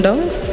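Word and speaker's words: Downes: what is going my name is dongs how do you spell that last d o w n e s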